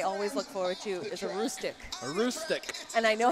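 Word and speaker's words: Aroostook: Every year, the league name that I always look forward to is a Roostic.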